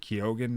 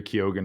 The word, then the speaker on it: Keoghan: his name yeah k-e-o-g-h-a barry keoghan or barry keegan i think it is keegan i think that is how it's pronounced um but i love